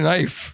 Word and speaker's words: knife: he said like language there's a word with a K in the beginning and you said you don't pronounce it why just why okay knife the two of them